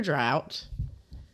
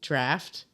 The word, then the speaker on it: draught: And it is nitro drought. It says drought. I think that's supposed to be draft.